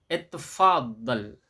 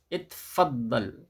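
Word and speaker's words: اتفضل: Mengucapkannya adalah itfaddal. Itfaddal. Itfaddal. Jadi itfaddalnya ini ya, itfaddalnya ini disambung ya.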